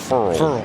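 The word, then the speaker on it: Ferrell: A fired up Cleland Furl led the Clemson front, and he did tell us early in the year it's pronounced Furl, like referral, he told us.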